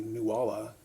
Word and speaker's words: Nuala: Nuala. Quite a while I wondered what the significance of that was. If you look up Nualh, you're not going to find anything, but phonetically Nuala, Newalla, is the name of the